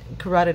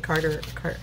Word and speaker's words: carotid: I think I said Carter. I don't remember how I said it, but I know I said it wrong. I just realized when I was saying it, it's the carotid artery.